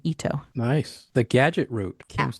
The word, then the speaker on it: Eto: ETO is how you spell it. It's an Ito.